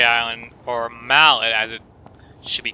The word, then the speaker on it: Mallet: And in case you didn't know, Malay Island, or Mallet as it should be called, because that's how it's spelled, like Mallet.